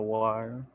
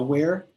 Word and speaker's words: weir: Isn't that a weir or a wire? Yeah, a weir. At least that's how I've always pronounced it, a weir.